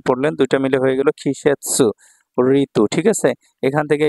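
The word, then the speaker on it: 季節: Chinese উচ্চারণ। আর এখানে সেতসু পড়লেন দুইটা মিলে হয়ে গেল খিশেৎসু ঋতু ঠিক আছে এখান থেকে এই কাঞ্জিটা খুবই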